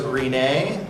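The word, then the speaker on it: Rinne: There's Rin-ay, that's spelled R-I-N-N-E.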